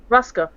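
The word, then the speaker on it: broască: It's brasco. Ruska.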